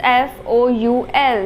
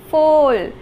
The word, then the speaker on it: foul: And then fifth one is F-O-U-L. What is the pronunciation of F-O-U-L? Some children call it foal, which is wrong. The pronunciation of this word is foul.